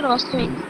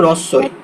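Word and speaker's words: হ্রস্ব ই: এই যে হয়ের নিচে যখন র ফলা থাকে তখন হয়ের উচ্চারণটা সুপ্ত থাকে, তখন রয়ের উচ্চারণ হবে, রস্যই, হ্রদ, এরকম উচ্চারণ হবে।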